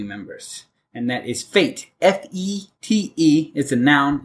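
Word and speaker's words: fête: I will mention that this route word comes from the French spelled the same way pronounced fete oh cool yeah well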